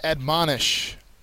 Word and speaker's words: admonish: one for LEL Day first word is admonish the second syllable has the accent mark it is a verb